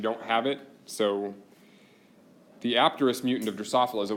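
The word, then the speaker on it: apterous: from Greek and the in Greek it would be a silent P so would be terx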